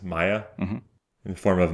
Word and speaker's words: Maya: spiritual journey in the form of, is it pronounced Maya? Mm-hmm. In the form of Maya, that takes him through a life of obtaining